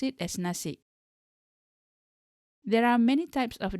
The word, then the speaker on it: nasi: It is with an additional letter K at the end. However, this letter K is not written but softly pronounced. Some people do say it as nasi, but most of us